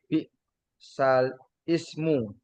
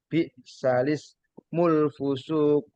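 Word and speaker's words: بِئْسَ الِاسْمُ الْفُسُوقُ: surat alhujurat balismul fusuqu Jangan dibaca bi sal ismu bukan langsung balismu bacanya langsung balismul fusuqu wal imana ee hurufnya lam alif dibaca langsung balismul fusuqu itu ya tadi ee bacaan-bacaan Garib.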